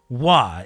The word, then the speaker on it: は: This little ha that is pronounced wa.